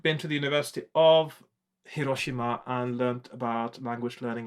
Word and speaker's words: Hiroshima: So, and Hiroshima, for those of you who don't get that, it's how you actually pronounce Hiroshima. When we in the West talk about Hiroshima, a Japanese person will think, well, that's not right, it's Hiroshima.